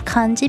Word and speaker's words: kanji: We just decided to call them kanji because Han Dynasty in Japanese is kan.